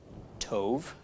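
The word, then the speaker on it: טוב: It becomes part of the vowel and becomes a long O. And then the Beit with no dagish is pronounced as a V. So altogether, this is pronounced Tov.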